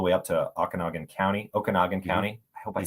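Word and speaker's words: Okanogan: goes all the way up to Okanagan County Okanagan County I hope I said that right someone's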